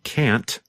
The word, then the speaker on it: can't: the negative form can't sometimes you can hear the letter T when we say can't but other times it is harder to hear and it just sounds